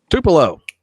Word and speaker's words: Tupelo: Tupelo. Thank you. Thank you for the pronunciation.